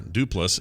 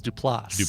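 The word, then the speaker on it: Des Plaines: is correct it is des plots lost do plus with the emphasis on the last syllable yeah this is de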